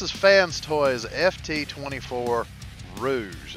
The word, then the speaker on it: Rouge: fans toys ft 24 Rouge it's not rogue I get how people mispronounce they have messed that up because Rouge and rogue do look a lot alike but at the same